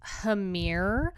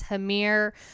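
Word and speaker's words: Hammr: what I'm thinking is hamir so this is a black speed metal punk band and again I'm pronouncing it as hamir but it's spelled h MMR and this is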